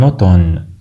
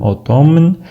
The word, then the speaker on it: automne: En hiver ou en automne? لا ننطق M في كلمة الخريف باللغة الفرنسية. لا نقول automne بل نقول automne.